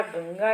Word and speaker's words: गंगा: इसीलिए गंगा शब्द में अनुस्वार के स्थान पर उस वर्ग का, जिस वर्ग को ग बिलोंग कर रहा है, ग क वर्ग का है, तो क वर्ग का अनुनासिक का उच्चारण वहाँ पर होता है। जैसे गंगा, तो गंगा में अंग का जो क ख ग घ अंग, अंग का उच्चारण होता है गंगा, जो बोर्ड लेटर्स में लिखा है गंगा।